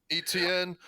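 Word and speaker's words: Etienne: Running back, how do you pronounce his last name? ETN. ETN.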